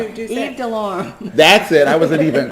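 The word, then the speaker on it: Yves Delorme: How do you say Yves de la Rome? Is that how No, that's not the French way of saying it. How did we say it, Paula? Yves de Lorme.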